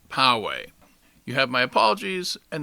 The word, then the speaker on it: Poway: of the city of pawe California is indeed pronounced pawe you have my apologies and now on to